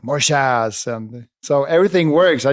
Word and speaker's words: MORJAS: No, but it's MORJAS. It's Spanish pronunciation. But in Sweden they say like MORJAS, and then in the UK or in the US they say like MORJAS.